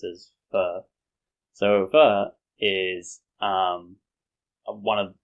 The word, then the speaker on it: pho: So a lot of people know about pho, which a lot of people pronounce as pho, but I think in Vietnam it should be pronounced as pho.